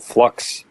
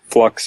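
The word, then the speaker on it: f.lux: a piece of software called flux I think it's pronounced that way it's F period luxe and I think it's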